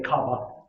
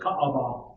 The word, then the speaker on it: Kaaba: The Kaaba, or most English people just say Kaaba, but it's Kaaba. There's 3 syllables.